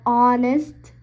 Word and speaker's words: honest: So an is also used before words that starts with a silent H. For example, an honest, an hour, an honor, an honorable, etc. So in these four words, the H is silent in these four beginning of those words. So we are using an.